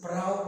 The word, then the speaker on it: prow: Here, ow in prow is pronounced as ow in now.